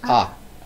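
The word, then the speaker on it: あ: It's pronounced ah. It's a short vowel.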